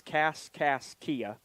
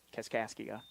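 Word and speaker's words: Kaskaskia: The the Yeah, the way that it's spelled is Cas Kia, but it's Cascasia.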